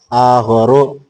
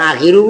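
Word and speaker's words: آخَرُ: Bukan akhiru bukan? Oh iya akhor, jangan apa akhir.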